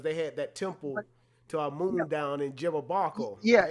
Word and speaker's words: Amun: The actual name is Yemen, but it pronounces to us as Amun.